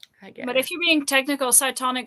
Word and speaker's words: Cytonic: if you're being technical cytonic is written with a c not with an s well yeah i think it would have been this i've never actually seen it spell that no it's c-y-t-o-n-i-c fair enough but it's an s sound so yeah so he